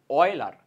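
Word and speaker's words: Euler: আছে এটাকে বলা হয় উচ্চারণ করা হয় অয়েলার বইয়ের ভাষায় এটা বইয়ে যখন দেখবা দেখবা তুমি এই জিনিসটাকে এই জিনিসটাকে বলা হয় অয়েলার্স ইকুয়েশন অয়েলার্স ইকুয়েশন আর লিখা হয় ইউলার্স ইকুয়েশন যেহেতু নাম তুমি যেকোনোটা উচ্চারণ করতে পারো কোন প্রবলেম নাই তো এই কস থিটা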